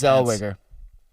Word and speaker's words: Zellweger: Zellweger. I think that's how you pronounce her name.